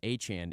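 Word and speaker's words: Etienne: he can be in conjunction with uh Travis Echan, right?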